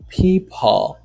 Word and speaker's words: people: Ok, kounya le ki wap prononcer mo di c'est people. People. Ou ou pas di people. No, it's not people. En anglais, ou pas la gilet L. Le ki li nan finissement mo.